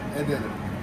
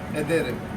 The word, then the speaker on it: ederim: ederim. Ed? Ederim.